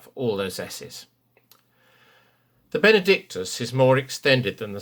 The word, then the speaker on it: benedictus: just after figure g always shape the words benedictus towards the s third syllable bernadictus you will find the